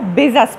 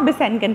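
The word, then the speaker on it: Besançon: ये देखें इसको हम लिखते बिसेंकन हैं, लेकिन चूंकि ये फ्रेंच वर्ड है और उनकी अपनी प्रोनाउंसिएशन है तो इसको वो बिजस पढ़ते हैं। आप बिसेंकन पढ़ सकते हैं ताकि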